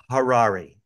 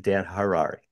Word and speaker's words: Harary: by the way it's Harari Harari like H like Harari that's how I remember it's like rhymes with Ferrari and that's how I remember it but Dan Harari just for the record